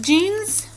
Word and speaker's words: genes: the word genes right it's spelled g-e-n-e-s jeans i know you've heard this word before it's when we're talking about this this and this are not the same thing does not mean jeans nope nope nope it's